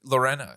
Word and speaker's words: Lorena: But Lorena is how you say it, right? Is how you spell? No, Lorena. Lorena. Yeah, okay. you pronounced it perfectly.